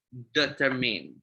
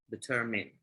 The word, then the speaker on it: determined: Oke, kenapa sih leaders itu sebagai pemimpin kita harus menjadi determined? Gitu ya. Bacanya bukan determine ya, tapi pakai i ya, determined.